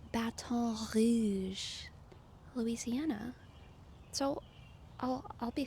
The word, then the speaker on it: Baton Rouge: but YouTube AI is letting me know that Baton Rouge is in fact the incorrect pronunciation, and this comment is right. This comment is right. Um apparently it is properly pronounced Baton Rouge, Louisiana.